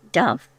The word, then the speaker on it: duff: Figgy duff, pronounced dove.